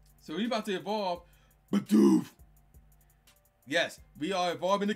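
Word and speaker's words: Bidoof: And you got to say it like that, too. Badoof to Bibarel.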